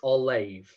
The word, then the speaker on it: Ollamh: But yeah, it's Ollamh. Okay. Like if you have an H after an M, you pronounce it as a V. And the H also indicates that the A is a long sound.